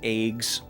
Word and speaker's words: AGWS: Uh AGWS is an acronym. They shorthand pronounce it as eggs.